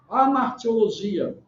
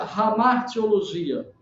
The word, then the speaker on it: hamartiologia: Você tem a doutrina do pecado na teologia sistemática chamada de amartiologia, se é com H. Ou às vezes se pronuncia hamartiologia, como eu aprendi a pronunciar.